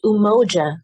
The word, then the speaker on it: Umoja: Was I pronouncing that correctly, Brittany? Yes, Umoja Collective, Umoja.